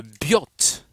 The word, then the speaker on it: Biot: appelle la loi de Biot et savar loi de attention bon ça s'écrit bio mais ça seit Biot la loi de Biot